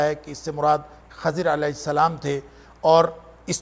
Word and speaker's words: خضر: موسیٰ و خضر ہے، یہ جس کو عام طور پر خضر کہا جاتا ہے، اس کا درست تلفظ خضر ہے لیکن معروف خضر ہے۔ موسیٰ اور خضر علیہ